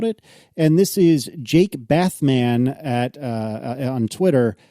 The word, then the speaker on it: Bathman: And this is Jake Bathman on Twitter. Do you think he mispronounces that Jake Batman on purpose?